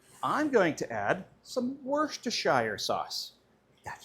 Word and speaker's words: Worcestershire: Now I'm going to add some Worcestershire sauce.